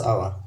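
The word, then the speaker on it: hour: Next देखिए, ही drove his car eight 70 kilometres dash आवर। तो यहाँ पर ये एच साइलेंट रहेगा, ओ से यहाँ से हम बोलेंगे इसको, यानी वोवल की साउंड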